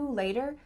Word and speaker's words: later: Does it sound like later or later? Sounds like a D here.